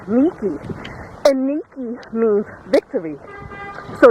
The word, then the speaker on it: Nike: the statue Athena Niki n i ke e you may pronounce it Nike but in Greece it's pronounced Niki and Niki means Victory